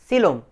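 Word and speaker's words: coelom: उसका स्पेलिंग कोइलोम जैसा दिखता है, लेकिन क्या बोलेंगे? सीलोम, body cavity.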